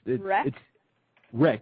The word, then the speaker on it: REC: I mean, it's Wreck. It's R. Let me spell it for you.